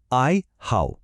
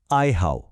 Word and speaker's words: 爱好: এই পুরো শব্দটির উচ্চারণ হল আই হাও। আরেকবার বলি, আই হাও।